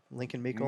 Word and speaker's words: Lincoln Meekle: Lincoln Mukel or Meekle. Lincoln Meekle. Meekle. You're good. You said it right.